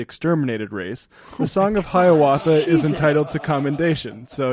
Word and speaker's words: Hiawatha: A lot of people might think it's pronounced Hiawatha, but it's pronounced Hiawatha.